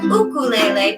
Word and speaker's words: ukulele: everyone say ukulele ukulele i pronounce it like ukulele because that is how you pronounce ukulele in hawaii and that's where ukuleles